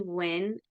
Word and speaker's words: Win: my name is win is how you pronounce it like I'm a winner um and so I